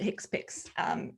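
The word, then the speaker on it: HCPCS: hicks pics code um that's hcpc i mean that's it we pronounce it hicks picks in our in in our in our insurance world um so for the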